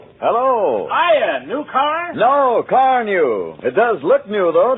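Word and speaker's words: Carnu: No, car new.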